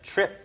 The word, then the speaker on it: trip: 자 trip 할 때 tr은 왠지 ch 발음처럼 발음을 해주셔도 돼요. trip 이렇게요.